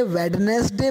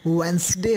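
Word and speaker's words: Wednesday: तो आप जो पहले वेडनेसडे बोलते थे, एक एग्जांपल है कि जिसको आप वेडनेसडे बोलते थे, एग्जैक्टली उसका प्रोनाउंसिएशन वेंसडे है, राइट।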